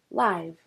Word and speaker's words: live: Here, the word is a descriptive word. Therefore, we pronounce it as live.